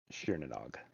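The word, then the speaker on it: Tír na nÓg: TIR is pronounced sheer.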